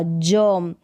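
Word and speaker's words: germ: इस ई का उच्चारण अ होगा, ई नहीं होगा। जर्म, यहाँ पर भी ई आर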